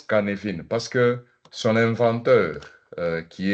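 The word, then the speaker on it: Cynefin: Donc c'est écrit Sinéphin, ça se prononce Kanevine parce que son inventeur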